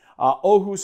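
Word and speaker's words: Åhus: of aquavit we're using ahoo aquavit is that pronounced Oh who's sorry Marius pronounces he corrected my pronunciation on these so that you guys don't have to do Oh whose aquavit I think that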